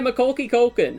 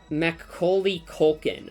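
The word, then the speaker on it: Macaulay Culkin: Uh, this is Kevin Mallister from Home Alone, the one played by Makoki Koken. I don't know. I don't remember how to pronounce his name.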